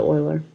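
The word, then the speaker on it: Euler: is given by the uler turbo machine equation and it's also called the UL turbine formula or the oiler depending on the pronunciation so here's the UL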